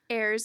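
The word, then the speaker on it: Ayrs: the time and I do not how to pronounce that it's airs it's a unique spelling I can say that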